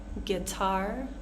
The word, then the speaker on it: guitar: two letters are completely silent here colleague guest pronouncing the E not the you guess guard guide guilt guitar tongue so you want to avoid making like